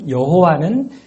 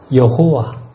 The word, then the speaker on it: 여호와: 여호와. 히브리어로는 야훼로 발음이 되지요.